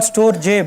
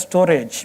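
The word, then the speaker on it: Storj: highlight one such platforms called storage it's called storge but it's pronounced as storage which makes it a little bit difficult to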